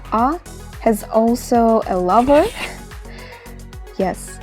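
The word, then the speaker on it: ㅏ: This letter makes a sound of ah. It's not a, it's not any other sound, it's just ah. It's just the way I pronounce it. You also just repeat after me, it's ah.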